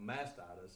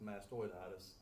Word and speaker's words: mastoiditis: refer to as mastoiditis that's not masitis it's mastoiditis mastitis totally different thing and uh this here